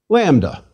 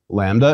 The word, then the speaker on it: lambda: Lambda. Lambda is equivalent to L and pronounced like the L in language. Please repeat, lambda, ul.